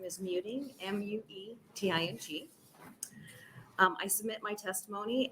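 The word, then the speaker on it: Muething: my last name is Muting, M-U-E-T-I-N-G.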